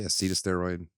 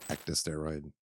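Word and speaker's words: ecdysteroid: the market oh and I say say aceta steroid it's actually pronounced ecta steroid just wanted to put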